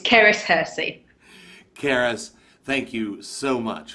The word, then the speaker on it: Cerys Hearsey: It's Cerys Hearsey.